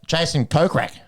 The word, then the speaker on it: Jason Kokrak: Lost to Jason Kokrak, 14 under.